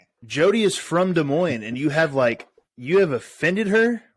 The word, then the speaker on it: Des Moines: Des Moines?